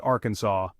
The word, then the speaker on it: Arkansas: their beloved state's name, so they passed a law making it illegal to pronounce Arkansas incorrectly. The next time you find yourself in the natural state, remember to pronounce it Arkansas.